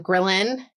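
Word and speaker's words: ghrelin: Grillin.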